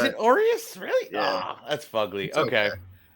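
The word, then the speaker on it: Urías: know quite a couple am I saying his name wrong is that why you're laughing a little bit I I figured I I remember on one episode you're like I'm just sticking with your eyes it's Aureus is it Aureus really yeah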